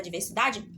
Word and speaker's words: diversidade: da sílaba tá bom a minha sílaba tônica é a sílaba mais forte é a penúltima sílaba que é o da então por isso ela